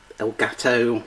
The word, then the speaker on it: Elgato: The Video Elgato. That's how you pronounce it.